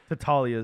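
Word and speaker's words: Tattaglia: Tataglia. Tatalia.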